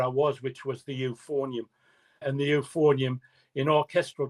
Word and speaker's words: euphonium: So we were able to get a new euphonium player in and I moved onto an even bigger instrument which was the tuber.